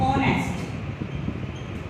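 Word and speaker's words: honest: जैसे suppose ऑनेस्ट, ऑनेस्ट में हम एच को प्रोनाउंस नहीं करेंगे, ओ से प्रोनाउंस करेंगे।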